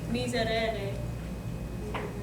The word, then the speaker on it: miserere: That means a flipped R. And then the way I always do that in my head that helps me remember how to say it is I just kind of flip it with my finger. Otherwise, miserere. And here and here, if you have trouble flipping, again, pronounce it with a D.